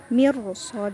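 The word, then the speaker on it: مرصادا: Di baris terakhir mirso, kasroh bertemu ro sukun itu harusnya tipis atau tarkik, tapi karena huruf selanjutnya itu huruf tebal sod, maka dibacanya menjadi bukan tarkik tapi tafhim atau tebal. Mirso, jadi ro-nya tebal.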